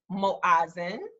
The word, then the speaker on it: Moazen: So the pronunciation for our business is Moazen.